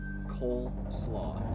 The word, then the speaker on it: cold slaw: The way I always pronounce it, and have always heard it pronounced, is coleslaw, like a silent D.